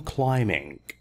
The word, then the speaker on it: climbing: your bicycle or even climbing B here is silent climbing mountains those of